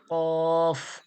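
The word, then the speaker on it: ق: সজাসজি তালু জিহব্বার গড়া ওর সজাসজি তালু থেকে উচ্চারণ হয় কি কফ কফ কফ এরপরে পড়া দেখুন কফ জবর কফ জের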